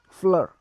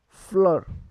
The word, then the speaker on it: fleur: So F will be pronounced similar, but we will put some pressure on saying that, like F, F. So to flower we will say fleur, fleur, F-L-E-U-R, fleur.